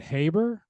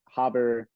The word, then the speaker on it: Haber: last name pronounced correctly is it habber yep you got it so Jackson Haber